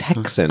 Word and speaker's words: Häxan: i was curious how you pronounce this it's hexan it's it's come on computer no i i just told i've looked it up too it's hexson i want to hear the computer say oh